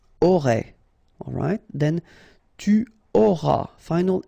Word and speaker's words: auras: Alright, then tu auras. Final S not pronounced.